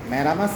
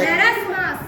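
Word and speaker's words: marasmus: স্যার স্যার ম্যারামাস ম্যারামাস ম্যারামাস কি ভালো করে উত্তরটা দেখো ম্যারামাস উচ্চারণটা ম্যারাসমাস ম্যারাসমাস কারেক্ট উচ্চারণ একটু ভুল হলো তাহলে কি নাম্বার পাবে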